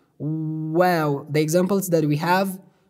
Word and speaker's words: و: the definition of this word this letter we pronounce it by pickering our lips like wow wow the examples that we have definitions of